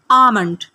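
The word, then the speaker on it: almond: आमंड यहां पे जो एल है यह साइलेंट है। इस एल को आपने नहीं पढ़ना। आमंड सालन के अंदर जो शोरबा होता है उसे इंग्लिश में कहा जाता है ग्रेवी।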